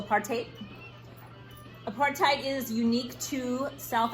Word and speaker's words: apartheid: I think it's like 5-minute video on apartheid, pronounced also apartheid.